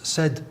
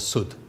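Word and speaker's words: سد: The word sud is a barrier, and it could be pronounced as said or sud, and they're dictionary-wise exactly the same.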